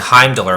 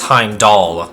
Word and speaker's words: Heimdall: I kept on saying Heimdall, but it's Heimdall, like doll. So, Heimdall.